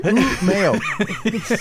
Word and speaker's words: Umeå: Give us that pronunciation again. Umeå. Wonderful. U-M-E and then A with 2 little degrees symbols on top of it.